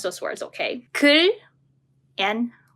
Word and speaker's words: 글: Let me pronounce those words, okay? 글 and 굴. 글, 굴.